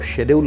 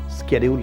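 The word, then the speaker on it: schedule: को बड़ी खुशी होगी अगर आप शेड्यूल को शेड्यूल नहीं कह के स्केड्यूल कहेंगे, उसको अपनापन लगेगा।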